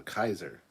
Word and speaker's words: Kaiser: cap for future reference my last name is pronounced Kizer I not e so Kaiser Kaiser Gary is your